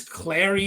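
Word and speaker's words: Klare: two pick here, Max, pretty sure it's Clary. It's not just Claire, it's like Clary or Clara. Um, you actually pronounce like the E there.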